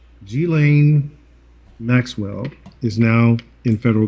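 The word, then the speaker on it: Ghislaine: fuzzies guys i want to make sure i pronounce her name correctly g-lane maxwell is now in federal custody number one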